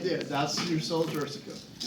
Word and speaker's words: sella turcica: Say, how do you pronounce it? Sella Turstica? Sella turcica.